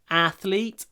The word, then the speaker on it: athlete: athletic she's an athlete stress on the first syllable athlete athletic athlete athletic next